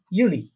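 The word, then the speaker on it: Juli: তারপরে দেখেন June জুলাই, এই দুইটা উচ্চারণ হবে ইউনি ইউলি। ইউনি ইউলি। হ্যাঁ, জুন জুলাইকে কি বলবো আমরা? ইউনি ইউলি।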